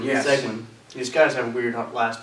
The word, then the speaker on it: Seguin: Seguin, yes. Seguin. These guys have weird last names. Sometimes I have a hard time pronouncing them.